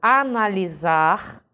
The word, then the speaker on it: analisar: é ok por exemplo analisar é escrito com s tem o som de z mas é porque na